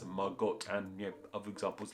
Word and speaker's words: Margot: still probably said in words like Margo might have even been said as Margot and you other examples